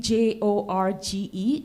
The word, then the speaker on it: Jorge: Like I actually didn't know that in the Spanish language, the name J O R G E is pronounced as Jorge because J is pronounced at H.